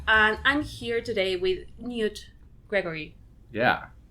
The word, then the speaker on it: Knute: is and I'm here today with Newt Gregory yeah correct it's Knut Knut yes Kent